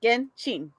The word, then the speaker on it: Genshin: Because I think it comes. Correct me if I'm wrong, chat, but I think it comes from Japanese. And in Japanese, it would be Genshin.